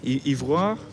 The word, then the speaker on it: ivoire: Ivory, ivoire, is that how you say it? Ivory, ivoire. Ivoire, oui. oui.